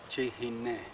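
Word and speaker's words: Chihene: I'm of Chiricahua Apache descent, and I belong to the Warm Springs Apache Band, which we pronounce Chihine, means the people of the red paint people.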